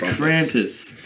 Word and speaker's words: Krampus: james pronounces the krampus it's krampus um it just sounds cool a krampus so it's like trumpet like how's that cool